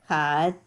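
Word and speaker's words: כתב: Katav.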